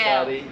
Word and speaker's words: Skadi: So Scotty is spelled S-K-A-D-I. I'm not sure if that's a D actually, it's like a Scandinavian letter.